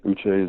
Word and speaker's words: Uche: Is it Josh Uche? Yes, Uche is it.